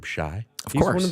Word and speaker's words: Shai: But people say Shai Gilgeous-Alexander. Right? Okay. Because it's spelled like the old. You remember the old R&B group Shai?